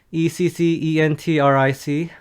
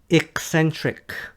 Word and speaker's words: eccentric: Number 5 is the pronunciation of eccentric. It's eccentric, not eccentric. Eccentric or eccentric. When you say eccentric, it sounds like email.